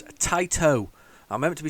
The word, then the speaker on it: Taito: So it's Taito, not Tato, as I keep on saying. It's like potato, not a potato.